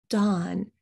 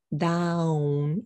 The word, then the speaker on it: Dawn: The same thing happens with my name, Dawn. So you see a W, but you don't pronounce it. You don't say down or anything like that. You just say Dawn.